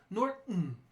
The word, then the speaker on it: Norton: might have heard it my name for example could be pronouncing the glottal stop Norton that means the soundest stops like your Norton or button okay it's common in